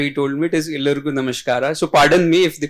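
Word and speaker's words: ಎಲ್ಲರಿಗೂ ನಮಸ್ಕಾರ: So he told me it is Illurgu Namaskara. So pardon me if the pronunciation is a bit misplaced or here and there.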